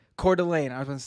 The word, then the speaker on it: Coeur d'Alene: i'm unfamiliar with idaho honestly how do you pronounce the city again uh it's coeur d'alene coeur d'alene i was going to say antifa super soldiers